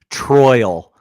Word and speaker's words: Troyal: full name is it's troyal Garth Brooks I missed that I did not troyal spelled like Royal with a t t r t r it's just Royal with a t in front t r o y